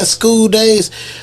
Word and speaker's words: Skoo Days: Now he's saying Skoo Days, but spell it out. So SKOODAYS. Okay, that's SKOODAYS. Exactly. So y'all won't put school. Yeah, like school, like it's school, like Skoo, SKOODAYS, and